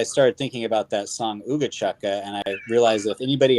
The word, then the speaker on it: Ooga Chaka: regarding, dude, I never asked you, is it pronounced Ooga Chaka? Yeah, Ooga Chaka.